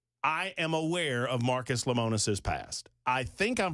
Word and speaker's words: Lemonis: am aware of Marcus lemonis's past I think I'm pronouncing his last name correctly I certainly hope I'm doing so I don't think it's lonus I think it would be Lemonis Marcus is the CEO